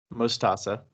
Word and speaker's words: Mostaza: Yeah, so you pronounce it Mostaza, Mostaza.